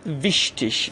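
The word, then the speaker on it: wichtig: آلمانی، در این صورت گ رو دوستان ش تلفظ میکنن. گ به صورت ش تلفظ میشه. دقت بفرمایید به مثال ها. مثال اول ویشتیش.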